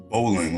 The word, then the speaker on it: Bolling: wanna make sure i'm pronouncing that right balling bowling like the sport no w okay all right we have